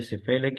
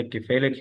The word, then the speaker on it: cephalic: अगर आप दोनों तरह प्रोनाउंस करें, चाहे सिफेलिक या किफेलिक है, दोनों जो है वो ठीक है।